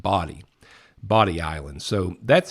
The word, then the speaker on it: Bodie: I think I read that that's pronounced body.